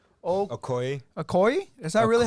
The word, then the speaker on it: Okoye: Okoye. Okoye? Is that really how you say it? Mhm. Okoye, with the help of their friend and the CIA agent Mr.